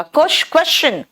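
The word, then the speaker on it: question: जब S के बाद T आता है ना तो वो श नहीं च बन जाता है।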